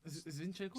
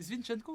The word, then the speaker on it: Zinchenko: Ils ont une défense de balade he Saliba Gabriel Zinchenko euh Zvinchenko c'est Zinchenko c'est dégueulasse mais j'ai mal prononcé mais mais comment ça